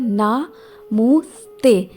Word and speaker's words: namaste: और इंग्लिश में दोस्तों इसको जो प्रोनाउंस किया जाता है वो होता है ना मुँह स्ते, NAHMUH स्टे, STAY।